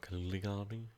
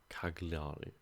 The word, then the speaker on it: Cagliari: the island secured so far discreetly Keller re Caligari Caligari Cagliari God as one of those things we can